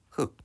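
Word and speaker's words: 흙: 얘를 발음해 보면 흑 이렇게 뒤로 읽습니다.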